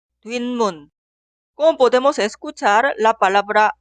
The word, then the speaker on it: 뒷문: La primera es la combinación de 뒤 y 문 y se pronuncia 뒷문, 뒷문.